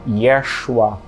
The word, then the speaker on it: Yeshua: Nós escolhemos batizar esse curso de yeshua com a pronúncia original do aramaico do nome de Jesus nós queríamos desenterrar os